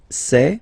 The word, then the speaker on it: sait: Il sait, final T not pronounced.